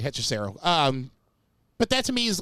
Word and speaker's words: Hechicero: No, you said it right, Hechicero.